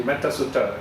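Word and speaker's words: Mettasutta: board is shocked so here the shortness of the vowel is due to the compound it's actually supposed to be metasuta combined so the long vowel became short so technically it's still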